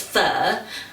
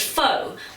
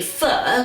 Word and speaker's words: Pho: me pronounce it as fur some people pronounce it as foe but unfortunately that is incorrect I'm not even quite